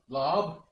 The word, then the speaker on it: larb: One pork larb, or pork lab, I think they pronounce it, or also known as a pork salad from Laos.